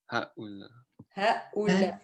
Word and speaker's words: هؤلاء: yeah هؤلاء هؤلاء so you have two hamzas so two stops in this word هؤلاء هؤلاء And the last one, أولاد.